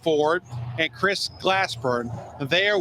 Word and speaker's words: Fouard: Yes, Ford. Like, it's spelled differently, but it's pronounced Ford.